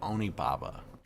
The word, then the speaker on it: Onibaba: the first of two classic japanese horror films onababa is the first one we have a trailer for that i think i'm gonna go and roll that while we chat about onibaba oh am i pronouncing that right again what about you you're